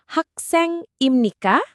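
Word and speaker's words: 학생입니까: Tinggal ubah akhiran imnida menjadi imni kah? Nadanya juga sedikit naik di akhir ya.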